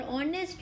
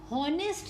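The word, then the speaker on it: honest: तो आप यहां पर देखोगे तो आर और ऑनेस्ट मैन कर दो वॉल्यूम साउंड है थे बुक ऑफ लिस्ट आ रहा है होनेस्ट नहीं आ रहा है जो कौन है वह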